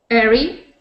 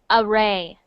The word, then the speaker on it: array: Airy. That is actually pronounced array.